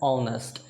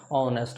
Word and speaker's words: honest: इसका प्रोनाउंसिएशन होता है ऑनेस्ट। ये एच से शुरू होता है इसका स्पेलिंग, लेकिन इसका प्रोनाउंसिएशन अ साउंड से शुरू होता है, ऑनेस्ट।